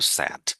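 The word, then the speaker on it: said: হি স্যাড, আসলে এই যে এই স্যাড, আমি স্যাড বললাম, আসলে এটা উচ্চারণ কিন্তু স্যাড। আমরা বাংলাদেশে এটা মিস্টেক করি, রং প্রোনাউন্স করি, সেটা হচ্ছে সেইড বলি, দ্যাটস রং।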